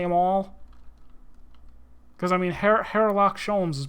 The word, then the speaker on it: Herlock Sholmes: Herlock Sholmes! Oh, have we met, sir? This is Mr. Natsume, the man you had arrested, Mr. Sholmes. The H is not silent.